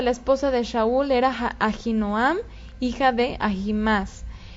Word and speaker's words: Ahinoam: Ahinoam, su esposa, se llama, en hebreo se pronuncia Ahinoam, en español lo leemos Ahinoam, pero en hebreo es Ahinoam.